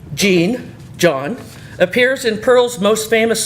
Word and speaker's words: Jean: The name of Jean, pronounced more like John than Jean in that language...